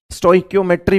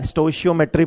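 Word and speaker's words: stoichiometry: स्टोइक्योमेट्री और स्टोइशियोमेट्री दोनों नाम बोलते हैं, दोनों ही प्रोनाउंसिएशन वैलिड माने जाते हैं।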